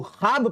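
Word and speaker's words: ख्वाब: वो वाव साइलेंट हो, जैसे कि दरख्वास्त को दरखास्त पढ़ते हैं, खवाब को खाब पढ़ते हैं ना जे।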